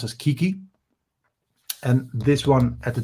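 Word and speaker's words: 危機: And the Japanese word for crisis is pronounced as kiki.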